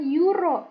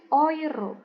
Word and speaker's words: Euro: Yang pertama kalau ada E digabung sama U, EU dibacanya adalah o I. Oi. Contohnya bukan euro, Teman-teman. Tapi oiro gitu ya.